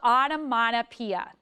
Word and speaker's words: onomatopoeia: So if we clap it, onomatopoeia, there's actually 6 syllables in that word.